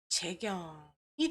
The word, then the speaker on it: 재경: 나의 이름은 Jkeykung 스펠링이 써지는 것이고 재경 발음이 됩니다.